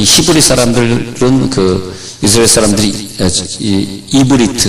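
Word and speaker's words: עברית: 자, 이 기준을 둬가지고 이 히브리 사람들은 이스라엘 사람들이 이브리트 그렇게 발음하는데, 이브리트 잘 적어, 이브리트 그렇게 발음을 하는데, 이브리트라고 언제까지 부르냐 하면은 창세기에서만 이브리트라고 부르고, 출애굽기 12장을 기준으로 이제는 이스라엘 민족이라 부릅니다.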